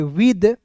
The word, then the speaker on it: with: WITH को पढ़ेंगे विद, विथ नहीं पढ़ेंगे। देखिए दोस्त मैं आपको शुरुआत से बोल रहा हूं कि TH का उच्चारण द के रूप में करना है, विद।